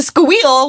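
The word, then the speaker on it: Skweel: this is the the squeal one it's spelled s k w e e l squeal squeal One S can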